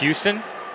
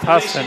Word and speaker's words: Husson: ahead of our break, we did hear Husson University pronounced Houston. I did look it up online before we arrived, as this was my first exposure to Husson, and they did just pronounce it correctly over PA. No fussing with Husson. Husson University is the way it's going to be.